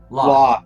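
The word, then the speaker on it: Lolth: Loth. Thank you. I always want to put another L in it.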